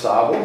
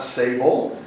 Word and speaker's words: Sable: Sable Point are pronounced Sable, not Sable. Sable means sand, so we have Big Sand Point and Little Sand Point, but when you say it in French, Sable sounds a lot more classier.